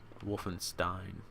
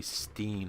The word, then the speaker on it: Wolfenstein: Wolfenstein. If I say Steen, I'm gonna get more people getting pissed off that I said it wrong.